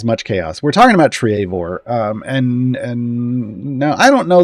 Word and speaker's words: Treavor: see an emote Trevor, but the pronunciation is Treavor.